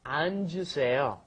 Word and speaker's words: 앉으세요: Because it's got the double 받침 there. So you've got to go 안, and then the J sound comes up, 앉으세요.